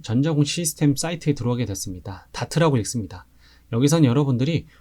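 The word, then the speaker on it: DART: 다트라고 읽습니다.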